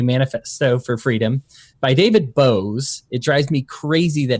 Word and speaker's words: Boaz: libertarian mind a Manifesto for Freedom by David Bose it drives me crazy that he pronounces it Bose because it is like how you spell Boaz